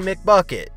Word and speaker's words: McBucket: They don't call him CJ McBuckets for nothing, as he was the only Blazer that could score a McBucket. McBucket rhymes with McNugget, but yesterday Blazer fans starved as their team didn't even get close to 100 points.